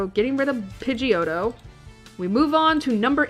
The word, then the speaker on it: Pidgeot: to pronounce it cuz it's Pidgeot but the D is silent to me however Pidgeot